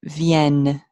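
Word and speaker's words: vient: on movin a u VN v n en T is silent VN okay in your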